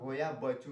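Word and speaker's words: Hoia Baciu: इस जंगल का नाम होया बसीव, कुछ लोग इसे होया बसु भी कहते हैं, तो इसे रोमानिया भाषा में इसका उच्चारण होया बच्चू नाम से किया जाता है।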